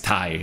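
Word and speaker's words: Tay: Britt Baker versus it's spelled T-A-Y, but it's Thai, right?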